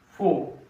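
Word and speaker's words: faux: Same A-U-X we use in foe, F-A-U-X. Foe, X is silent, means false.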